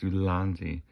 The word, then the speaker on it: Ulanzi: I had to look it up and actually like try to spell it out, and it wasn't good. Anyway, Ulanzi. It's Ulanzi.